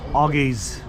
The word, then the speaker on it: Oggy's: Right, the correct pronunciation of this pub is Argy's.